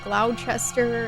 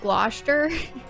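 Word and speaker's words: Gloucester: It's pronounced Gloster.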